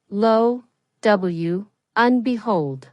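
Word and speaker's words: lo and behold: Say it like this. Low w unbehold. There is a linking between low and and and and becomes a weak form un.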